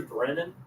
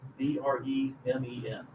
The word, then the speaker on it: Bremen: Barry Brennan, Bremen.